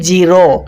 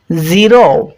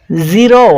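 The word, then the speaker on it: zero: সহজেই বুঝতে পারবে আমরা এটা সকলেই বাংলা ভাষীরা উচ্চারণ করি জিরো জিরো কিন্তু এটা বর্গীয় জ এর স্বাভাবিক উচ্চারণ হয়ে গেল কিন্তু এখানে উচ্চারণটা করতে হবে এভাবে জিরো জিরো দেখ জিরো একটু ভালোভাবে লক্ষ্য করতে হবে।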